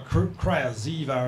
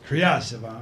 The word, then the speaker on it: Kryazheva: Back in Holland, we call her Kryazheva or something, but I'm supposed to don't mispronounce it here. It's Kryazheva, of course.